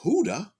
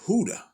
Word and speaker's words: Hoodah: And then Hoodah, it emerges when Yehuda or Judah is spoken in Spanish, since the J sound is pronounced like an H.